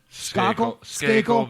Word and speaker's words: Skakel: Did I pronounce is it Skakel? Skakel, but who cares?